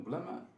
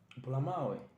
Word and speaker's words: Bulamawe: And you said what? Blama? Bulamawe. Alright. Bulamawe. What's the pronunciation? Bulamawe. Like B. The capital B? Or? Yes, capital B. Bulamawe.